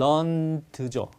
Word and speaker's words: learned: 얘는 발음을 이렇게 해야만 된다. 즉 동사 역할을 동사로 쓰일 때는 learned죠.